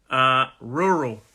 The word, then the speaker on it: rural: So slow it down again if this sound is a difficult sound for you to make.